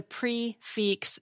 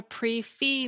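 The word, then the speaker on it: prix fixe: Further, if a French word ends with a consonant followed by an E, you do pronounce that consonant.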